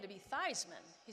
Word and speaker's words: Theismann: and we really believe if his name were to rhyme with Heisman that he has a